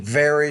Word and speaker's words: vary: then that word varies need to pronounce that V with more vibration vary from culture to culture